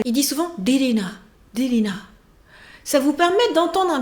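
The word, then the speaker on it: Ririna: Le prénom d'une des protagonistes est R-I-R-I-N-A, Lilina. Et le héros prononce très souvent plus vers le D que vers le L. Il dit souvent Lilina.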